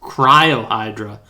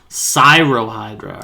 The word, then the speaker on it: Cyrohydra: file that says cryo oh it's cyro that's why i keep making this mistake i keep reading this is cryohydra cyrohydra all right that's why